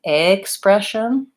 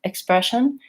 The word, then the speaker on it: expression: short and reduced so if I'm saying expression you can hear that doesn't sound natural I'm using the wrong bow I'm holding it too long if I say expression and I use the a vowel but it's very light and reduced you're not going to really hear the difference you can aim for